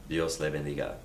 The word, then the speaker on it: Dios le bendiga: And stress is on the second to last syllable typically.